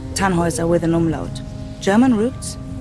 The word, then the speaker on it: Tannhauser: what's your name Tannhauser we pronounce it tan was away the long load German